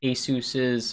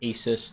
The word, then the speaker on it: Asus: This is Asus's, or Asus, depending on how you say it.